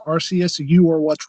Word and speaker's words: Arceus: legendary zone although I've only heard it pronounced two different ways Arceus and Arceus which I think the enemy alternates between both but I think the verified way is Arceus Arceus is the way to say it anybody who says Arceus